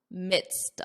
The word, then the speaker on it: midst: Notice the pronunciation, midst of, in the midst of.